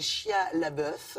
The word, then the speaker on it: Shia LaBeouf: Des acteurs, dans la majorité, tous non professionnels, sauf peut-être cet acteur américain dont on parle beaucoup, qui s'appelle Shia LaBeouf. C'est comme ça qu'on prononce son nom, que vous avez vu dans